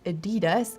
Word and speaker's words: Adidas: brothers Adolf and Rudolfph Adidas often gets mispronounced as Adidas but it's actually Adidas so the emphasis is at the A and Not.